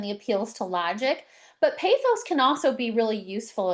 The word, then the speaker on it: pathos: And then we have pathos, or I've also heard it pronounced pathos, which appeals to emotions by highlighting the human impact or community stories.